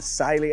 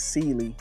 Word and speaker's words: Cyelee: And Sily Optics has brought, well, you can say Sil, whichever way you want to pronounce it, but I do think it is Celely.